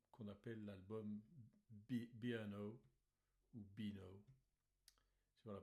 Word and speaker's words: Beano: ont fait l'album qu'on appelle l'album B&O ou Beano, sur la prononciation anglaise.